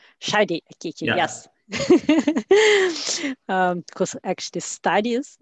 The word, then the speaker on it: Shadi Akiki: Because I don't want to mispronounce it. My name is Shadi Akiki. Shadi Akiki, yeah.